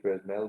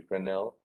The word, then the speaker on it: Fresnel: down to the presidential some people call it fresnel but really should be friendel pronounce diffraction formula and